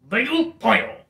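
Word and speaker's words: 배고파요: Baegupayo. Baegupayo. That's how you say I'm hungry in the Korean language. Could you say that again, please? Baegupayo. Baegupayo. Baegupayo.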